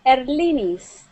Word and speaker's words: Eris: yeah great wonderful and am I saying your name correctly or how do you say your name yes it's cor my name is Eris Eris okay Eris okay